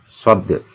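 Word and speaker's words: ص: Shod. Ini ketika ada benderanya bagaimana bacanya? Ya, ini. Shod. Shod. Shod. Mari sahabat Anaba kita baca bersama-sama ya. Shod. Jadi ingat ya, ada qalqalahnya ini.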